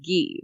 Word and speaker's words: Guy: pointed out um that it's the french pronunciation of guy is ghee like the gee fox